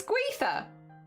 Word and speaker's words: Gwythyr: How do you pronounce the Y's in this one? Because I'm thinking Welsh, which is Gunther? Or is it Gwynthir? Gunther. Gwythyr. Okay. It's Gwythyr. Nice.